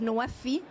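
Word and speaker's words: NWFE: water food and energy pronounced as noafi noafi means from pledges to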